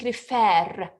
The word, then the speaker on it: refer: i tell you because in reference the last syllable is stressed in travel the last syllable is not stressed so i'm saying refer it's stressed okay it's